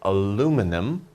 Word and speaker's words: aluminum: an interesting word aluminum Americans will say aluminum British people will say aluminium okay so this word